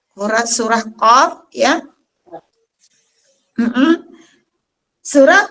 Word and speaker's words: Qaf: Kita awali di surah Kaf. Surah Qaf, ya. Surah Qaf, teman-teman, di awal ayat, di ayat yang pertama ada Qaf bertanda mad.